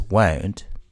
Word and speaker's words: won't: or preceded by two in spoken English want is almost never stressed whereas won't is by the way this